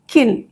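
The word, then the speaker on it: kiln: में एक होता है किन किन मतलब किन नहीं एल साइलेंट होता है वो होता है एक एक जगह जहां पे दूसरे मेटल्स को मेल्ट किया जाए।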